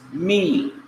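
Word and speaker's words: מִי: This is mem, pronounced m. And this is the long vowel kiri, consisting of the yod to the left of mem and the dot underneath mem, and pronounced me, me.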